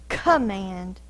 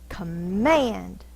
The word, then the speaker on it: command: syllable of the word we don't say command we say command so the force is on the second syllable when we're fussing at